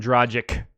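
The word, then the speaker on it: Dragić: Goren because I don't think about it and I it up every time so Dragic Dragic Dragic itch it's an itch right pitch relation Serbian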